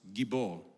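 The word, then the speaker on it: גִּבּוֹר: the original Hebrew language this name Warrior is pronounced gibor it's a military word it's used in combat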